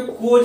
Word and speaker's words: coz: ठीक है, सबसे पहले कि COZ को ध्यान रखना कि कज पढ़ते हैं हम लोग, इसका जो सही प्रोनाउंसिएशन है वो कज करेंगे, क और ज, तो इसको कज पढ़ते हैं।